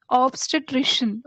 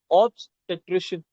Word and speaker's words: obstetrician: wrong um okay obstry obstitrician okay the pronunciation is a bit complex I'll learn I'll help you with that. I'll help you with that. Obstetrician. Just take a sec. Obstetrician.